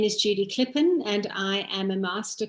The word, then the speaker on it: Klipin: was going to say my surname is pronounced differently oh so yeah sorry it's clipping okay awesome hi it's